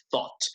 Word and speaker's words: thought: pronunciación de una vez, cuando tengan GHT en inglés, las palabras con GHT típicamente omiten el sonido de la G, de la GH. Entonces aquí esta GH no suena para nada.